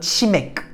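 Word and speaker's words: 치맥: Que, quand il est en bas, il se prononce comme son grand frère. Que. Mais c'est pas g, c'est que. Limite, ouais, mettez juste un petit k à la fin, là. Chimek.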